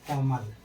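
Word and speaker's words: comb: अब यहाँ पर क्या है, बी के पहले क्या आया है, एम, इसलिए यहाँ पर बी क्या है, साइलेंट।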